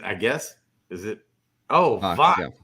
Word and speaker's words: Vox: Oh, Vox. Yeah. E is in Victor, not Fox.